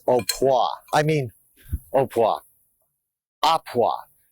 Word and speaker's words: à point: the item till it's au point. I mean, au point. A point. Or it's spelled a point, but it's pronounced à point, and that means just done.